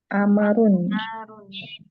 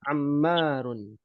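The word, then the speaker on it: عمّارٌ: Berikutnya Amarun. Ammar. Mimnya bertasyid ya. Ammarun.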